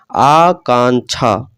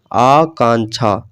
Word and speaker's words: आकांक्षा: इसे एक बार स्पष्ट रूप से उच्चारण करने का प्रयास कीजिए। आकांक्षा, उच्चारण किस प्रकार होता है? आकांक्षा, आकांक्षा। अब आकांक्षा ये शुद्ध उच्चारण हो जाता है, जो कि ऑप्शन नंबर